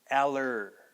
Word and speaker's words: allergy: And then G. Okay, so the G part is not G, but more of a J sound, G. Okay, now again, to get that ER sound, you've got to put your tongue up flat against the top of your mouth. Okay, kind of tighten your lips, and really go for that sound.